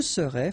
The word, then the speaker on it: serais: Je serais, final S not pronounced.